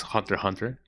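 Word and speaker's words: Hunter × Hunter: Yeah, I am on the camp that says Hunter X Hunter because it's really funny to say it. I know that the correct the correct quote unquote pronunciation is Hunter Hunter.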